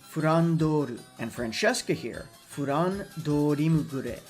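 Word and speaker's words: フランドール: For those unaware, Flandre's original Japanese pronunciation is actually Fandoru and Francesca here, Furan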